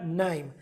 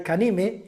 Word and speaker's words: KNIME: este curso se llama KNIME. La K no se pronuncia, ¿eh? KNIME, no me digáis Kanime, ni Kanaim, ni nada. KNIME, ¿vale?